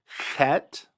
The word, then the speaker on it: chet: It's almost like the German CH, where it almost sounds like a cat hissing. Chet. And in that, you hear the friction, you hear the breath, but you don't really hear a trill.